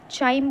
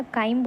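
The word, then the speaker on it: chyme: चाइम बोल लो या काइम बोल लो।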